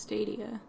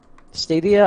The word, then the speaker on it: Stadia: satya for failing immediately pretty sure it's pronounced stadia stadia I've heard pronounced both ways I just didn't want